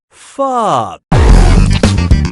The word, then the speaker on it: pho: This delicious soup is pronounced pho.